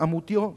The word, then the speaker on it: Amutio: Tenemos a Robert Amoutiot, se pronuncia bien así.